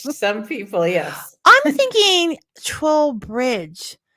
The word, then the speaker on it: Trull: yeah rhymes with doll troll rhymes with doll I have you and